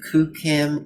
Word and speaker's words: QooCam: 3d camera on the market it's called the kucam ego that's spelled q-o-o-c-a-m one word and then ego ego